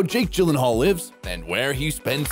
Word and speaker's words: Gyllenhaal: His surname is Swedish, so it's supposed to sound like Gyllenhaal.